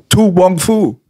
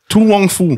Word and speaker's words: To Wong Foo: To Wong Foo. To Wong Foo? Ja, Mann. Also also er hat es richtig ausgesprochen jetzt.